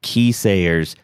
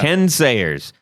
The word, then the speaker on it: Ken Sayers: nigro and please ken i'm so sorry we had pronounced your name keysayers i i am on my knees begging for forgiveness right now yeah ken sayers let's say three times